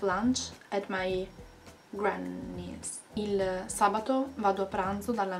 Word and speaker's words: sabato: the pronunciation by and I do hear some of you going like sabadie dominici no no sabato Dominica